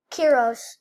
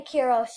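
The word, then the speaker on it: Quiroz: Kiros. E.A. Kiros. And that's pronounced Q-U-I-R-O-Z.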